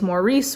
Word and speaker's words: Maurice: The next one I'm gonna read is Maurice, or I heard someone say it's supposed to be pronounced Morris, which I just can't wrap my head around.